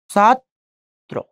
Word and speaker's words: ছাত্র: এই যে র ফলা যুক্ত করলাম, ত র ফলাত্র ওকার, ছাত্র। এখন যদি যাত্রী উচ্চারণ করি, খেয়াল করে দেখেন, আবার তর সাথে কি যুক্ত হয়েছে?